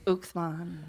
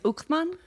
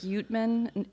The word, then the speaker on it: Uekermann: How do you say your last name? Uekermann. Say that again. Uekermann. There you go, Uekermann. Yeah, people say like Youtman, Uckman, all kinds of names.